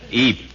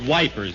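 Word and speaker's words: Ypres: the offensive at wipers Eep when we were at wipers e can I get you a bicarbonate it's not pronounced wipers General it's e well as I was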